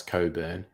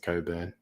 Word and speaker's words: Cockburn: It's a place called Cockburn, which I'm sure they pronounce Coburn, because people with a name spelt that way always pronounce it Coburn.